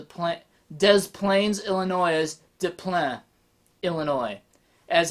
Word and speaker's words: Des Plaines: will call the point des plaines illinois is diploma illinois as how it should be pronounced you learn something new today because it's